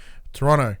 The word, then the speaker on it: Toronto: her hometown of Toronto Toronto you don't pronounce second T and it's a court